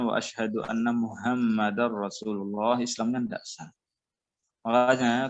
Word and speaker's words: Muhammad: Kemudian sama juga ya, kalau Muhammad itu emanya jangan dipanjangin. Kadang orang ditarik-tarik. Muhammad. Muhammad. Jangan begitu bacanya. Mudah, santai aja bacanya.